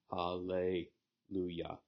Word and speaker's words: Hallelujah: So the pro-pre-tonic in this word is hal. Hal is pro-pre-tonic, le is pre-tonic, lu is tonic.